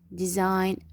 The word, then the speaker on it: design: design رح ألفظ فقط حرف الآي.